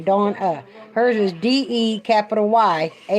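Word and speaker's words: Deyawna: My daughter's name, my name's D-A-W-N-A, Dawna. Hers is D-E-Y-A-W-N-A, Dawna. She said it's spelled how it sounds, Dawna.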